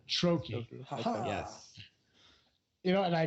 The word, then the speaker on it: Troche: Is it Troche? It's Troche is how you pronounce it. Troche.